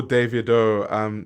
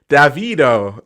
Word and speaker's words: Davido: Americans do call Davido Davido. It's fine. Americans can American. It's fine. Davido. That's what Americans say all the time, but it's Davido. But I understand that it's not easy to say it the Nigerian way, like Davido.